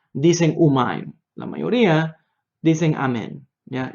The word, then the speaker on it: Amén: a eso ya la la pronunciación correcta para e para la palabra Amén es Amén como yo acabo de decir no es umain umain es la forma de los ashkenazim del centro de Polonia no todos los ashkenazim